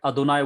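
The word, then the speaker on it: אֲדֹנָי: So that Adonai word starts with this Khatip Pathak. So it gives small a sound, Adonai.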